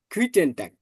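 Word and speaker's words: Guten Tag: গুইটেন টাগ। হুম, জিটাকে আমরা গে ও, পড়ছিলাম, তাহলে এটা গ উচ্চারণ করেন।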